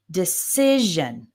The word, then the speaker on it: decision: When you see T-I-O-N or a similar one, S-I-O-N, the stress is always on the syllable immediately before. So we have imagination, decision, okay?